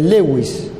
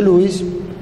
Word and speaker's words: Lewis: llenado esta técnica se conoce como técnica de lewis que también se pronuncia louis pero lo decimos así para no confundir una línea horizontal que pasa paralela al piso por el segundo espacio intercostal o ángulo de louis y cruza el cuello